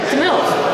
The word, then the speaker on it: TMiLV: Have we settled on how to pronounce the acronym? TMiLV.